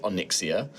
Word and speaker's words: Onyxia: Onyxia. Onyxia. No, I'm saying it. You just said Onyx.